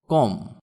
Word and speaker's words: comb: কম, COMB, এখানে beta উচ্চারণ হবে না।